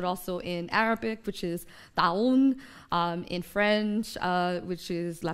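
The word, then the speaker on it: طاعون: in English, but also in Arabic, which is taun, in French, which is la peste, and also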